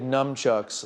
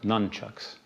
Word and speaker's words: nunchucks: constitutional grounds you made numchucks legal in new york well actually it's pronounced nunchucks right num chucks why